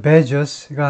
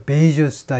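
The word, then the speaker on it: Bezos: 제 베스가 직접 방어한다 미스터 베스가 아니고 미스터 베이스다 이건데요 미스터 베이스 발음이 좀 상하죠 아이 이름 자체가이 밀리 님이죠 밀리 네임 앞에 스터나 미스를 붙입니다 미스 미스나 이제 미스나 뭐 미스나 다이 타이틀을 name 앞에 name 앞에 붙이는데 히 독특한 거죠 그래서 우리가 조금 있다 살펴보겠습니다 왜 이런 이름을 갖게 되는지 왜 이런을 갖게 되는 하여튼 발음이 스가 아니고 스다 이거죠 사주죠 뭐라 그랬냐면 대선후보지지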